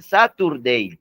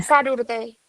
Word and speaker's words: Saturday: Ustedes pronuncian sábado, ustedes lo pronuncian Saturday o me van a decir que no. Sí, lo pronunciamos así. Dice, no sé si se dice Sarurday o algo así.